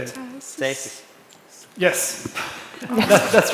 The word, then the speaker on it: Cēsis: Cēsis.